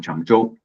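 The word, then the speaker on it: Changzhou: Y yo vivo acá cerquita de Shanghai, esta ciudad llama Chango. La ZH en chino también se se pronuncia como como la CH nuestra digamos es una zona ultra desarrollada.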